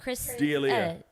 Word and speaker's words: D'Elia: laughs at himself, Chris. Delia.